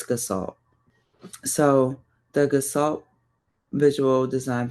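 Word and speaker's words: Gestalt: say G like the G first verse well pronounce the G in a different way but um it's gassalt.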